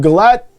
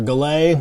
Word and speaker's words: Gallet: The Jaws of Galette, or Gallet, if you're using like different French pronunciation.